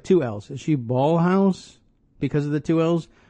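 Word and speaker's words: Ballhaus: two L's is she ballhouse because of the two L's or I would ordinarily pronounce it Bal house even though there's two L's there anyway she's got this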